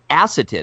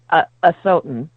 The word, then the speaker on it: Asotin: Nearly 40 years later, Acetin, is that the right? How do we pronounce acetin? It's Asotin. Asotin!